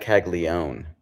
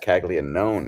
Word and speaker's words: Caglianone: People say Jack Caglione, but it's Jack Caglianone is the way it's spelled, mates.